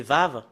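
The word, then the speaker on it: וו: pas encore vu et pour prononcer la deuxième partie c'est c'est vave le le W c'est V et c'est V quand le l'écrit quand on le crie il y en a certaines qui le changent en O ou ou et si on regarde on fait un histour concernant les Hébreux anciens c'est vave qu'on qu'on le prononce et nous voyons très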